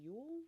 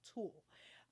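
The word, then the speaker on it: TUL: I think it's how you pronounce it, Yule or Tool. I'm sorry, Tool. T-U-L. Tool.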